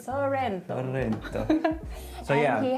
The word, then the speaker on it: Sorrento: Sorrento, right? Sorrento.